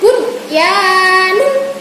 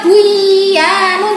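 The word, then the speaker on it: بُنْيَانٌ: Nomor 2, bunyanun. Nah, tidak boleh baca buyanun, tidak boleh.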